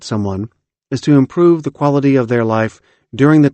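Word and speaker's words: QALY: a metric called the quality adjusted life year also known by its acronym q a l y pronounced quali in order to help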